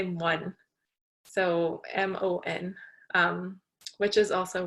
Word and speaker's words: mon: But here we'd say mon, so MON.